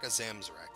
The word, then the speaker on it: Akazamzarak: talents and abilities yeah and we're back at akazamzarak that's how you say his name so you're